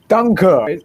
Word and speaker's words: Danke: Danke. Is this the right pronunciation of thank you in German?